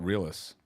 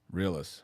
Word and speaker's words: REELUS: I mean, I call it REELUS. REELUS. Okay, It's Got it. literally like real us and real US. Like Okay. real everything. Real us.